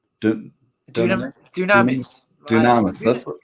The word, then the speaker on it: Dunamis: Dunamis. That's what, Some people pronounce it Dunamis. I say Dunamis. Dunamis. Okay, Yes, it's that a sounds Greek better.